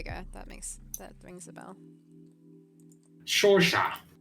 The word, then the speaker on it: Saoirse: Shorsha. Shorsha. It's like the actress. Saoirse Yeah. Ronan. Yeah. Except, Yeah. except it's unpronounceable.